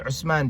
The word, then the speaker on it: Uthman: Every time when Eritreans, they name, their children, they're always naming them Ahmed or Muhammad or Uthman, which is pronounced Usman because Tha doesn't exist in the Ge'ez alphabet.